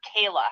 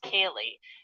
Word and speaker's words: Kaylee: mispronounced my sister's name he called her Kayla her name is Kaylee and the representative okay